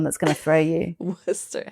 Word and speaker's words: Worcester: Worcester is the one that's going to throw you. Worcester. How do you spell that again?